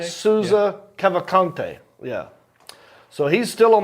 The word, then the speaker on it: Cavalcante: How do you pronounce that, Ball? This guy's name. Danilo Cavalcante? Souza Cavalcante.